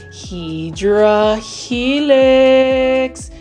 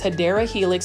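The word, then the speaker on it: Hedera helix: this is another beautiful hedra Helix I love me some hedra Helix look at how beautiful this hadera Helix that's the correct way to say it $20.98 and you can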